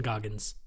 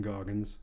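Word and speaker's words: Goggins: his haircut right now oh okay way Walton gogin Walton sorry Walton goggin that's the worst pronunciation I've done this entire goddamn podcast wait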